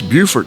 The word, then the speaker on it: Beaufort: And 19 Santi Lane 1 N Santi Santi is spelled S A N T E. Santi Lane, L A N E. And that's Buford, South Carolina.